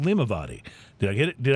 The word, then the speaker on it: LimaVady: but it's an Irish whiskey, and it's called LimaVady. Did I get it? Did I pronounce it right? Perfect, LimaVady.